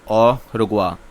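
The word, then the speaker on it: au revoir: Sixth is, यहाँ पे आप प्रोनाउंसिएशन ज़रा ध्यान से देखिए। This word is called ऑ रुगवा, it means good bye in French.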